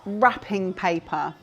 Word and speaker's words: wrapping paper: probably already know but wrapping paper at Christmas time we have lots of wrapping paper wrapping paper is spelled with a W and it's silent so it's w r r wrapping paper so it's what we